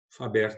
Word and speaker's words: Faber: Faber, do jeito que eu estou falando, se escreve mesmo. Faber, F-A-B-E-R.